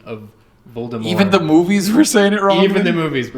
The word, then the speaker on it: Voldemort: French it's French right cuz like all French words you just don't say the last letters pretty much yeah so does that